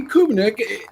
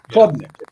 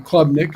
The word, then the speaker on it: Klubnik: And Clay Kubnik, he is that guy. You give him a little time, he is a good quarterback. Klubnik. Yeah, Klubnik. However you pronounce his name. Klubnik, excuse me.